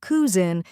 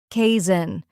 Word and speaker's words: cousin: Many learners say cousin, but the correct sound is kazin. It sounds like cousin.